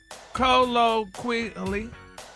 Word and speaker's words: colloquially: No, you didn't pronounce the Q, quia. It's colloquia.